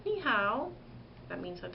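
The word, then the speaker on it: 你好: like how are you spelled Hao but it's pronounced how so when I say Nihao that means I'm saying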